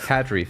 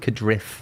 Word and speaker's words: Cardiff: Cadreef. Driving from Cardiff. It's pronounced Cadriff. It's not. Cardrift.